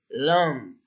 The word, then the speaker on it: long: Normalmente no se pronuncia la G, sino la combinación nasal. Long.